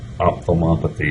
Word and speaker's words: ophthalmopathy: Uh Okay, if you're three laughing at me, ophthalmopathy is the correct pronunciation of the word.